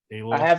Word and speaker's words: Aloy: Aloy.